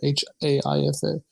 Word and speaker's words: Haifa: Haifa? Is that how you pronounce it? Haifa.